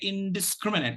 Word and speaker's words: indiscriminate: we're going to say indiscriminate so it's you got to be careful that it's in the discriminant indiscriminate so be clear where the syllable boundary is the syllable boundary